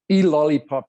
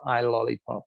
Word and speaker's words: E-lollipop: And it's E-lollipop is how it's pronounced, but if you were to read it, you would pronounce it I-lollipop, because it's a little I, as in an iPhone.